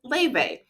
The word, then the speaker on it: Laufey: Like I said, she's Icelandic, but we pronounce it Laufey.